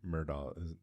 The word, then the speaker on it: Murdaugh: I think the the the documentary is on Netflix and it's called Murda- it's they say Murdaugh, that's how they pronounce their name, but it's m u